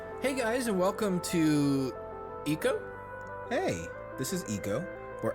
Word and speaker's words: Ico: Ico? Is that really how it's pronounced? All my life I've said Eco, but nobody has ever said it. So it totally could be Ico, like eye to eye, co.